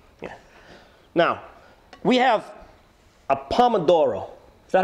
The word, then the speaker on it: pomodoro: Now, we have a pomodoro.